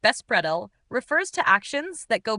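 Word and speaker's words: беспредел: The Russian term bespidel pronounced bespredell refers to actions that go beyond any written or unwritten laws representing an extreme degree of lawlessness and disorder.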